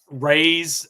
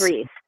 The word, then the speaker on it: Reese: really enjoyed Quinn um Rays hopefully I'm pronouncing that right um r Reese it's Reese yeah Owen Reese is his